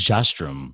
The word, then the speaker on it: Jastram: It's Jastram. So you can have you can have some flair in there, different pronunciations.